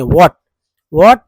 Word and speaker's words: what: I will find out what, इसमें H silent होता है, लिखते हैं लेकिन पढ़ना नहीं है। what जो कंफ्यूजन है वो सब ऐसा ही दूर होगा।